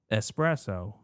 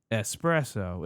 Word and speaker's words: espresso: Espresso is one of those words. It's espresso. It's not espresso. I don't know where people are getting this. espresso from laziness, I think.